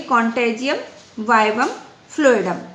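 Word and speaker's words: contagium vivum fluidum: और तो सिंपली इन्होंने ये कहा गया बेटा कि कॉन्टेजियम वाइवम फ्लूइडम बेटा इट इज़ a Latin word जिसको हम लोग प्रोनाउंस करेंगे कॉन्टेजियम वाइवम फ्लूइडम।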